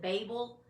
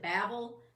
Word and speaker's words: Babel: awesome, it was called, now some people pronounce it Babel, other people pronounce it Babel.